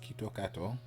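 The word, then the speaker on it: キットカット: foreign a quick history the word KitKat pronounced in Japanese is kitokato which sounds a lot like Quito Katsu kitokatsu means you will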